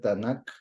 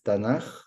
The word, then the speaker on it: Tanaj: español Por ese motivo el acróstico que nosotros pensaríamos que tendría que ser tanac en realidad es tanaj porque la tercera letra es una letra en hebreo Aquí estamos colocando todo